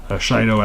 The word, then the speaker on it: Shido: Shido as in like shadow, but it's spelled slightly differently.